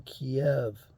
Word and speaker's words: Kiev: have their corporate headquarters in kiev which is the proper way to pronounce the darn city they have their headquarters